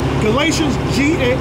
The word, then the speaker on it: Galatians: Galatians, G-A-L-A-T-I-A-N-S.